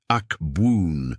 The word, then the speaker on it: Abwoon: Pronounce it slowly, Ahk-boon, allowing the opening vowel to resonate in the chest before the second syllable completes the sound with a forward buzzing vibration at the lips.